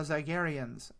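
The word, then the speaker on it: Zygerrian: very hard on the Zygarians. Am I still saying that wrong? No, I think the Queen pronounces it differently than everybody else does, but most of them say Zygarian.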